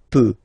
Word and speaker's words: peux: as usual, so je peux, okay? Final x not pronounced here, okay? So you get x, but you don't pronounce it, so basically you get the sound peut, je peux, okay?